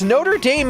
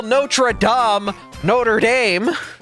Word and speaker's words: Notre Dame: in the world called called Notre Dame besides Notre Dame is pronounced Notre Dame you don't call notra Notre Dame you don't say the Hunchback of Notre Dame